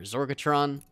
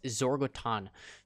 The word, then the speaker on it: Zorgoton: this new style for zorga Tron there's this or Target throw baton sorry but I keep saying it wrong bro it's Zoar goat on zorg Oh Todd oh